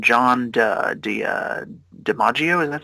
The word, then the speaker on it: DiMaggio: John DiMaggio? Is that how you pronounce his name? Oh yeah, John DiMaggio.